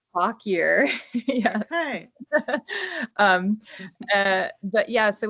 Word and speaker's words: Fauquier: It's Fauquier, and it's pronounced Fauquier.